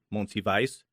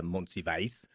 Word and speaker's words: Monsivais: And here to talk about today is our guest, Monsivais. Her name is so awesome, I have to say it again, Monsivais.